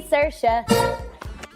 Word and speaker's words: Saoirse: It's Saoirse with an R, not Sourcey with an R, cause Sourcey with an R goes or not R. It's sh instead of s, instead of E, simple as can be, see Saoirse.